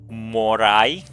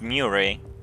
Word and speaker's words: Murray: Morai? You mean Murray? I'm pretty sure it's pronounced Murray. Because Tekken's former translator names is Michael Murray, and we are very used to pronounce his last name You won't have any